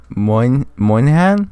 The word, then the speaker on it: Moynihan: You want to pronounce that, John? Oh God, Moynihan.